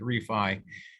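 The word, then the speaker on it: REFAI: um that's called the refi certification it's ref ai but i just pronounce it refi um and um we're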